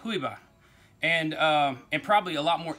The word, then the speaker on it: Juyba: don't know any Spanish, it's Juyba, but in Spanish it would be pronounced Juyba.